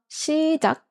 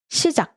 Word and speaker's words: 시작: And note that when a word ends with 기억, its romanization is K ending, but actually we don't make the K sound at the end, but we make a stopping sound.